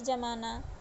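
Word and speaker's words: ज़माना: यानी बर्फ जमाना, दही जमाना। अब ये जमाना है, जमाना, इसका उच्चारण में परिवर्तन हो गया नुक्ता लगने पर, तो ये जमाना का अर्थ क्या हुआ?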